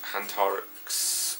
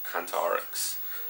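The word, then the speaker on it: Hantarex: And I know Phoenix looked really, really nice on a 19-inch Hantorix, or Hantrix, however you want to pronounce it. It's probably Hantrix.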